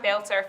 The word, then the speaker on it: Beltur: So it's it's a very unique name now, and it's a lot more Glasgow as well. It's how you say it. Aye, Beltur, that's it.